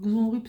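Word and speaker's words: Xonrupt: très loin de chez moi c'esteill alors ça s'écrit comment c'estécrit X X X e u i de Y et xonrup plem alors xonrup c'est x on R xon x O n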